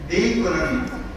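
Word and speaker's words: México: 그 말씀하신 중에 보면은 메이코라 그러는데 메이코는 메기족이 사는 곳 멕시코를 우리는 멕시코라고 그러지만 스페인어는 메이코거든요. 그 스페인어식 발음을 하면 메이코고 영어식 발음은 멕시코입니다.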